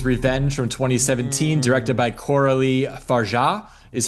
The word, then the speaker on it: Coralie Fargeat: Let's let's move on to our our next film, which is Revenge from 2017, directed by Corali Farah is how you pronounce it.